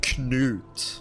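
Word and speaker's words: Knut: It's pronounced koot with a hard K. At least if you were going by the Scandinavian pronunciation.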